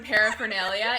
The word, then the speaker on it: paraphernalia: onomatopoeia or paraphernalia so the fact that there's an r in paraphernalia is ridiculous also absolutely ridiculous paraphernalia it's like peripher nalia like there's two isn't that dumb it's spelled para four